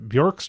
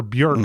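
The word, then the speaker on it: Björk: He was Bjork's drummer or Bjork, I should say.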